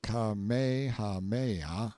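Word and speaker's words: Kamehameha: When Kamehahha, pronounced Kamehaha the Great, who was a sort of a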